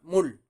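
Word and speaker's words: 물: Puedes probar a escribirlo y a pronunciarlo. ¿Cómo quedaría? Quedaría mul.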